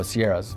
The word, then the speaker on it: Sierra: When we went down to like this closer to the Siena Nevadas, is that how you say it? Oh, Sierras, yeah.